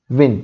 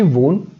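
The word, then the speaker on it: won: dash easily so शी विन तो उसका past tense होगा शी वन शी वन easily okay अब इस वर्ड को कैसे प्रोनाउंस करना है वोन नहीं कहना वन कहना है शी वन easily next Pankaj dash dash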